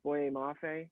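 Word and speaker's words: Boye Mafe: the last one is boy mafe i believe is how it's said from minnesota he's listed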